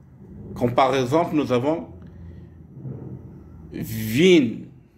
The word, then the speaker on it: Wien: W se prononce comme en français le V de ville, ville. Comme par exemple, nous avons Wien, Wien.